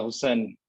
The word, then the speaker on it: Hussain: name or hussain yeah you can pronounce it uh hussain hussain yeah nice one okay